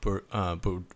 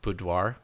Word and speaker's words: boudoir: his last name sorry if I said your name wrong um but he does Bert Boote boudoir yeah boudoir and yeah he like he's really